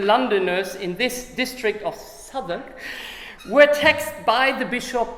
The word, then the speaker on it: Southwark: In London's South Ark, is that pronounced? Southwark. I knew it will be pronounced different.